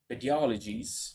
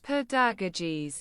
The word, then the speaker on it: pedagogies: The method of practice of teaching pediologies. Pedagogies. Pedagogies. Pedagogies. God why I'm pronouncing that incorrect.